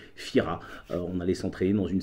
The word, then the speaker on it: Fira: la capitale à Fira qui s'écrit tira mais prononcé Fira on allait s'entraîner dans